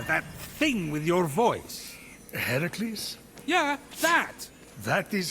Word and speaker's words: Heracles: So, Fenyx, after boldly besting the Gorgon that ambushed Heracles. What are you doing there? That thing with your voice? Heracles?